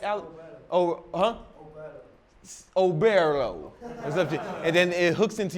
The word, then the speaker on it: Oberlo: Is it Oberlo? Am I pronouncing that right, Alex? Oberlo.